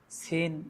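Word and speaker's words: سين: সিনের আওয়াজটা একটু চিকনো হয়, শিনের আওয়াজটা একটু মোটা হয়।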